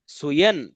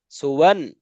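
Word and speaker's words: سُوًى: অনেকেই এই ওয়াও বাদ দিয়ে ইয়ার মধ্যে অনেকেই উচ্চারণ করে, অর্থাৎ ইয়া দুই জবর ইয়ান, সুয়ান। শব্দটা এমন হবে না, শব্দটা হচ্ছে সিন পেশ সু, ওয়াও দুই জবর ওয়ান, সুওয়ান।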